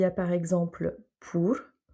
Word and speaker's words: por: Ensuite, il y a par exemple pour. On voit qu'il n'y a pas d'accent, c'est tout simple, et dans ce cas, par défaut, on va le prononcer OU.